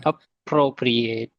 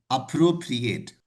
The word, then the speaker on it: appropriate: So it has four syllables. It has four syllables and generally here we are giving a stress over the second syllable. That's why it is appropriate.